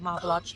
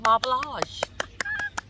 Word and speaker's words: Marble Arch: so we will buy the marble lodge tube to get around i know i said it right instead of marblage and last time we